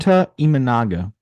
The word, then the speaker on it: Imanaga: is that that you say his name imaga sh imaga there you go sha imaga okay he's got